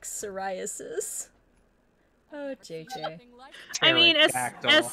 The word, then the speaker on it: psoriasis: sell it yeah chat what is your favorite silent p word i like psoriasis oh jj i mean